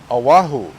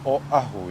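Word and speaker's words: Oʻahu: Because the O, everybody pronounces as O, Oahu, or Oahu. Don't say that. You'll lose a lot of friends. The way you pronounce it is Oahu, yeah? So the O and the A, there's kind of like that break, Oa. And then Hu, people do Hu.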